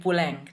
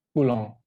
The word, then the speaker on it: Poulenc: Dan akhirnya Mas Tommy memilih Puleng dan coba boleh sedikit diceritakan nggak kenapa memilih Puleng? Oh Pulong, dia itu bacanya Pulang.